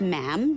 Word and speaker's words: ma'am: majesty and after that it's just ma'am rhymes with jam and it's always a